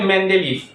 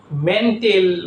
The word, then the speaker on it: মেন্ডেলিফ: একটা কথা মজার ব্যাপার যেটা একটা বিজ্ঞানী হচ্ছে মেন্ডেলিফ। অনেক বাচ্চাগুলো আছে যেমন প্রশ্ন করেছে আধুনিক পর্যাণের জনককে। উত্তরে লিখছে বিজ্ঞানী মেন্ডেলিফ। মেন্টেল মানে কি? মেন্টেল মানে পাগল ভালো মত আগে উচ্চারণটা একটু দেখব মেন্ডেলি মেন্টেল না কিন্তু হ্যা একটু একটু মনে